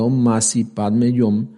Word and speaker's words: Om Mani Padme Hum: El sagrado mantram omani padmejum, que ya dijimos se pronuncia omasi padmeyom, equivale a los dioses